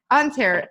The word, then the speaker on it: Ontario: Yeah, Ontario. Ontario? So it's like an A? Yep.